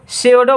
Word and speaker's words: pseudo: ठीक है, जैसे आपको बता रहा हूँ फॉर एग्जांपल के साथ, PSEUDO, PSEUDO यानी इसको सेओडो बोलेंगे।